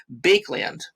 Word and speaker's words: Baekeland: Okay, now plastics themselves were first discovered in 1907 by a Belgian chemist named Leo Baekeland. I think that's how you pronounce it, B-A-E-K-E, Baekeland. We'll go with that, Baekeland.